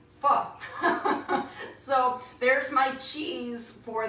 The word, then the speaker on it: pho: it's actually pronounced pho, F-U-H. And the way I think best of it, because I like to make everything funny in a game, I just, for this, it's like fee, fi, faux, meaning false, pho.